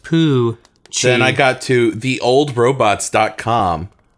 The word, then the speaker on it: Poochie: I said Piochi. It was spelt Piochi on the Google Images page, but... Pronounced Poochie.